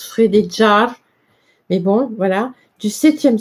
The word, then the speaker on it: Frédégaire: chronique de Frédégaire, hein, que je vous dis que ça se prononce Frédéjar, mais bon, voilà, du